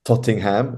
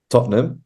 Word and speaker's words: Tottenham: fantastic football team which is Tottenham it's not pronounced tottingham it's pronounced Tottenham so I always cheer on my football team